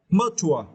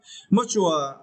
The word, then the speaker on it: mature: you the words are mature yeah much one and you need to strap the second syllable tour yeah mature and for this version